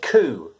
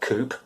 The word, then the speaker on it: coup: we say ku not koop why is that well yeah we should note the irregular pronunciation c-o-u-p we pronounce it ku no p this is because it originally comes from the french language okay which has a